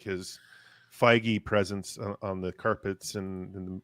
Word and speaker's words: Feige: It's not like but I think we just are looking at like his Feige presence on the carpets and the media shots and stuff like that. Yes, It's pronounced faggy.